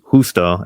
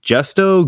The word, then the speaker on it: Justo: is pretty dark-skinned and Houston's name is justo and the first time someone's like gesto Gusto and I'm like no man like you never met a Mexican like um it